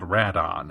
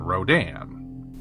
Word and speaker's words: Radon: In the original Japanese, the kaiju we're celebrating today is called Radon, a name made by combining the second and fourth syllables of the word pteranodon. Internationally though, the O and the A are switched around, resulting in Rodan.